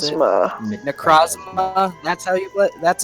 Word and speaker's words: Necrozma: That's how I pronounce it. Necrozma. Necrozma.